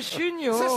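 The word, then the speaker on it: Chuniaud: Monsieur Chugnot.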